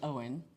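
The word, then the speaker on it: Eoin: us about Guinness and his name was Owen, but spelled I I wrote it down. It's something like E O. I don't know. Yeah, that's how you spell it. E O I N.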